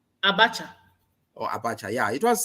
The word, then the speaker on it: Abacha: I'm pronouncing right, Abacha or Abaka? Abacha.